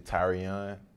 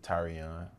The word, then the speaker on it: Tyrion: called tyrion um it's actually tyrion that's how you pronounce it that's how you it's that's how you pronounce it tyrion like tyrion you know i mean